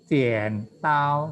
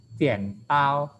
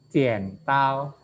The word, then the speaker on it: 剪刀: ya nggak boleh bacanya 剪刀 nggak boleh gitu. Tapi kita bacanya separuh kan. Kalau sudah ngomong kan bacanya separuh tadi 剪刀剪刀剪nya masih tetap harus agak turun suaranya 剪刀 ya 5把剪刀 5把剪刀